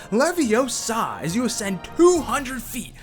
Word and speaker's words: Leviosa: for saying it wrong it's leviosa not leviosa dropping in at six